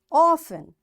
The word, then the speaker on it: often: these words next is T is silent in the following common English words so what these words are listen passion Castle often whistle soften hen bule and goury in all these words letter T is is silent so in this way